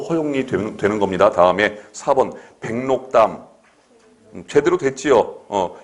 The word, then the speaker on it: 백록담: 백록담. 제대로 됐지요? 이때 록의 리을이 니은으로 되죠. 니은 발음이 백록담. 그리고 기억도 어떻게 됩니까? 비음을 겪어서 NG 이응으로 발음이 나죠.